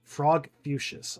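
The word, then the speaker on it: Frogfucius: So, his name is Frog Fuchsius. Okay. Frog Fuchsius nodded.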